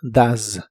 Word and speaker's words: does: El auxiliar does lo pronuncias como si la O fuese una A. La E no se pronuncia y la S se pronuncia de manera vibrante. Z. Así que suena como does, does.